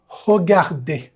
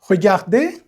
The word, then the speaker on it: regarder: প্রথম এটা regarder, উচ্চারণটা খেয়াল করবেন। regarder, এটা regarder নয়, অথবা regarder এরকম নয়, regarder।